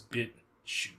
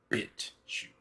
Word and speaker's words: BitChute: It's BitChute. That's the name of the website. It's shoot like in a laundry chute or a parachute, like the way it's spelled. It's called BitChute. I think I put it